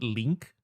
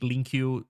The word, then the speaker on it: LINQ: In C sharp is even worse because through LINQ, I think they call it link. I will keep calling it LINQ until the day I die. Because I don't care about the branded name, the branded pronunciation.